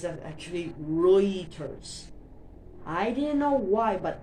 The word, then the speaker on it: Reuters: Um I thought it was rulers like that, but it's actually Reuters.